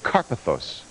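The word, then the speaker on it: Karpathos: Carpathos.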